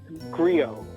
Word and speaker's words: Griot: Well, the next track here is I don't know how to pronounce Griol. Yes, Griot.